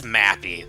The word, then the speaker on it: Mappy: Also, wait, I just realized his name is Mappy. That is how it's pronounced, because you actually hear it pronounced later on.